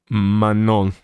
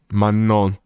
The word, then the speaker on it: Manon: Manon. Manon. Okay. I don't think I can do that second syllable correctly. So, I really hope that if I say man, that doesn't sound insane.